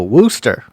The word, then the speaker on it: Worcester: I'm getting from the chat is that it's pronounced Worcester a Worcester yeah it looks like some people actually know